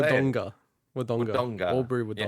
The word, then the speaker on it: Wodonga: How are you supposed to say Wodonga. it? Wodonga. Albury Wodonga. Yeah, anyway, I was nearly at your house. With a hard G. Wodonga.